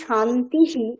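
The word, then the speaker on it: শান্তিঃ: রয়েছে ওই বিসর্গটার উচ্চারণটা বিসর্গের জায়গাতে আরেকটা তালব্য স বসে যায় সন্ধির ফলে তখন একচুয়ালি উচ্চারণটা কি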